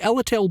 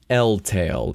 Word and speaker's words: Ellale: We know is gearing up for war because the Ellale book, yes, Ellale, not Eltale. Even though in the Japanese version it's spelled without the E, in the American and European versions, which came first?